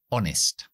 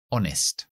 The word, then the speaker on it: honest: la voz Buda es honest no está la H honest nuestra siguiente letra es